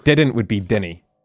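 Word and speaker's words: dinnae: duu n n y you don't spell it that it's it be d i n n a e it's Denny okay maybe maybe I maybe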